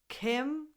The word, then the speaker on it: Kim: Kim lacks I, as in the word it.